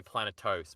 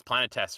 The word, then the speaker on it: Planetes: I always go to say Planetos because that's the name for the Game of Thrones world. But yes, Planetes, right?